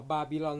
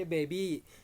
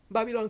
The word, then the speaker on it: บาบิลอน: อย่าง นี้ หรือ เปล่า บาบิลอน นะ ครับ ไม่ ใช่ เบบี้ ไม่ ใช่ เบิอน บาบิลอน คือ อาณาจักร ที่ เคย ยิ่ง